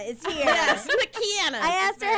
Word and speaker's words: McKanna: McKanna is here. Yes, McKanna.